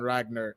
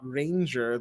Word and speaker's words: Ragnar: to remind myself that it's not Ranger that's because the GNN are kind of you know interchangeable because Ranger Ragnar even though the pronunciations are entirely different you'd be surprised how